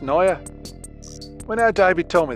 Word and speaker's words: Naja: Apparently it's pronounced Naya.